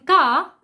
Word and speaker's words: car: In car, R is silent, but in cry, R is not silent.